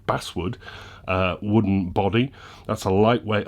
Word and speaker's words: basswood: what this is made from is an all base wood or i was as i was told recently pronounced basswood wooden body that's a lightweight hardwood uh value